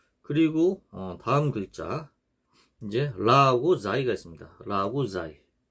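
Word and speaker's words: راء: 라 이렇게 라. 그리고 요 발음 기호는 영어의 R이고요. 요 라 같은 경우도 발음하기가 어려운데요. 영어의 R과 같습니다. 그래서 이 혀가 윗니 잇몸에 닿듯 말듯하게 굴리면서 내는 소리입니다.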